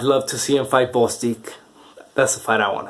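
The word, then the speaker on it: Gvozdyk: see him fight grossie the best Bostick you don't pronounce the G I learned that I'd love to see him fight Bostick that's the fight I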